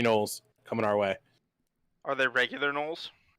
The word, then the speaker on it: gnoll: you do see 3 gnolls. Kind of just walking up the road towards you. I would like to I say don't that have the milk, Leonardo. G is silent.